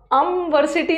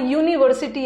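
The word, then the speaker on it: university: तो सही है बट यहां का प्रोनंसिएशन अमीन अमीनस बोला भी नहीं जा रहा अमवर्सिटी नहीं आ रहा यहां यूनिवर्सिटी आ रहा है यू यू य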